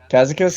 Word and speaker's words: Kazakus: Kazakus?